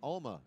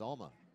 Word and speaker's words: Alma: Thank you, sir, for correcting us on the pronunciation of Alma. I kept saying Alma. Don't say that. It's Alma. It's the other way. It's the other way around. It's Alma.